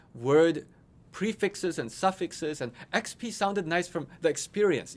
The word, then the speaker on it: Expii: EXPII is pronounced XP. It's experience points in many people's video games.